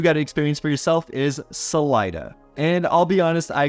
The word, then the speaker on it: Salida: I cringed a little when I first heard Salida instead of Salida which is what I'm used to coming from California and there's Salinas and Salida andigo long story short it's just pronounced a little bit differently here and as a side